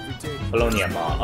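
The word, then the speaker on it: Paulownia Mall: STP mall or po ponia mall ponia mall okay it's the only time I ever said that out loud properly every time I heard other characters say it I'm like no you're saying it wrong uh police offic is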